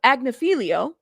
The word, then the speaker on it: Agnifilo: you guys and after Wednesday's filing because um agnifilo who I said it right yes he basically